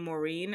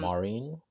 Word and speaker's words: Maren: Um, I went to a concert on Tuesday of um and I will pronounce this woman's name wrong every time. I keep on saying Moren.